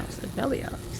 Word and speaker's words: Seveliar: No, Seveliar's. That's how you say it.